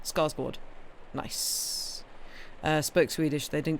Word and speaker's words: Skarsgård: All the English had subtitles, but when Alexander is it Skarsgård or Skarsgård? Because I've seen the A with the O above it, and have heard people pronounce it as a sort of or kind of sound. Anyway, the first one, Skarsgård.